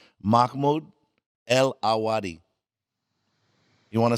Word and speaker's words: Mahmoud Elwadi: Mahmoud El Awadi. You want to say it for us? Say your name correctly. Mahmoud El Awadi.